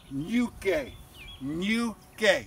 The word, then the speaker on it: Ñuke: Funyun and bunion and you know Spanish words like Senor and pinata is that ni and Y sound so this is the UK you gay that's how you pronounce it UK trust me I've